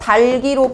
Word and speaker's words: 닭이: 그래서 닭이 발음할 때 달기로 발음이 되는 이유는이 기억이 그냥 요쪽으로 넘어가게 되니까 본인의 음가대로 뭔가 바뀌는게 없이 그냥 넘어가게 된 넘어가게 된다고.